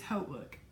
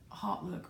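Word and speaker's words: HauteLook: off of H look it is not hot look it is H look I've seen the commercial haven't you that's how they want you to pronounce it they did this whole commercial side note about H look pronouncing it like 50 times in the commercial so I guess they got tired of people calling it hot look or mispronouncing it anyway so I did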